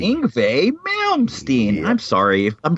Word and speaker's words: Yngwie: It's Yngwie, like a V. Yngwie Malmsteen.